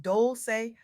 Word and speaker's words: Dolce: Welcome to Soft Girl Era, hosted by Dolce, pronounced Dolce like sweet softness whispered in French.